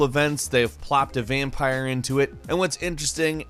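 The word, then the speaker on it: Vampyr: 2018 number 10 is vampire with Y however it is pronounced vampire despite the Y vampire is an action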